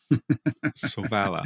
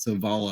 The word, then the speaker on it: Sovála: a an acute accent on the middle syllable to indicate stress and also why something that's written in ah sounds like ah soala. Okay, that's funny. That's all right. But if people pronounce it soala, I think that sounds cool anyway.